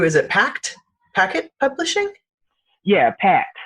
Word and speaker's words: Packt: Yeah, Pact. They're pronounced Pact, PACKT, but pronounced Pact.